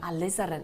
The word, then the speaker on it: Alizarin: Alizarin. Alizaren. Is that right? Maroon. Really? Oh, I like that. Just maroon. Alizarin. Have I pronounced that right? Yeah. Alizarin.